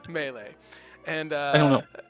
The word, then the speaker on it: Melee: Melee. I have to say it wrong the first time. Melee.